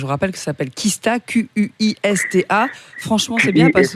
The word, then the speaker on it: Qista: Franchement, je vous rappelle que ça s'appelle Kista, Q-U-I-S-T-A.